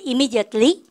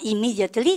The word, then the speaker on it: immediately: 그래서 이제는 쌤이 쏙 사라져도 M이 2번 나오면 한 번만 발음해야겠다.